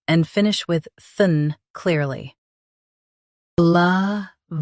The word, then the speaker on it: Leviathan: Both US and UK have the same pronunciation of this word. Stress vi. Keep soft and finish with than clearly. LEVIATHAN. LEVIATHAN.